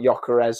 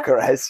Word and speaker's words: Gyökeres: They obviously brought Gyökeres on quite early on with the injury. You know how to pronounce that now. Gyökeres, yeah. It's not Gyökeres.